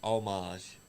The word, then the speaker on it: homage: night at the cage it's homage the H is silent it's how it's pronounced I mean Scott D say h well Scott Diamond's allowed to say it he's a veteran he's a he's earned the rights to mispronounce words well if he's actually pronouncing it right though it's pronounced omage that's he about to